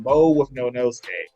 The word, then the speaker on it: Mo.withnonosuke: My Hero Academia collab, and that is cosplayer Mo.withnonosuke.